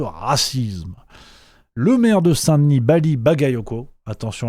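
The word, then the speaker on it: Bally Bagayoko: Le maire de Saint-Denis, Bali Bagayoko, attention à la prononciation, sinon vous avez des problèmes, c'est pour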